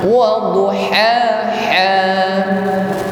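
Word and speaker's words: الضحى: Jadi jangan disamakan wadduha ha, atau sebaliknya dibaca ha semua. Wadduha ha. Jadi kita bedakan antara ha dengan ha. Saya ulang sekali lagi. Wasyamsi wadduhaha. Bersama. Wasyamsi wadduhaha. Baik. Ha mengucapkannya dengan lidah tenggorokan bagian tengah. Maaf, mengucapkan ha dengan makhraj wasatul halqi, yaitu tenggorokan bagian tengah. Ha. Sedangkan ha adalah aqsal halqi, tenggorokan yang bawah.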